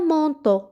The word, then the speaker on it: manteau: Un manteau. Un manteau. أ في الأخير تنطق مثل أو. manteau.